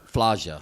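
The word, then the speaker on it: Slađa: So it's go ahead, spell it. It's SLADJA. Sludja.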